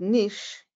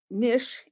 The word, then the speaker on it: niche: part of the arrangement both Niche Niche and Niche are correct pronunciations and being the same